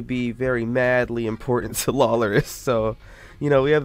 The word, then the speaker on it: Lawlorus: Shout out Lawlorus, even though I've never talked to him. But his name rhymes with Walrus.